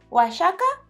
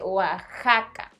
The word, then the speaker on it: Oaxaca: Ay, no, ¿y entonces se dice Oaxaca? De hecho, no. En ese caso sí se dice Oaxaca.